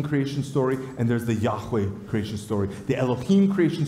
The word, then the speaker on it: Yahweh: actually, it's closer to Yahweh. Everybody say Yahweh. Yahweh. You see, when this name is, according to the experts, properly pronounced, it's as if the sound of breathing in and out.